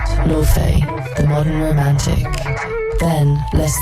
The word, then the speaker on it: Laufey: Laufey Lien Bing Jonsdottir, known simply as Laufey, pronounced Laufey, took the stage, and suddenly it was 1955 and 2025 all at once.